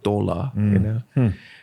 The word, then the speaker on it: Thaler: from Joachim's Tal as Thaler, from the valley, Thaler. And in the local language, you pronounce that. My mom, she still speaks the local language. You say dollar for thaler, dollar.